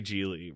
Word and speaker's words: Gigli: Gigli is about Larry Gigli, rhymes with really.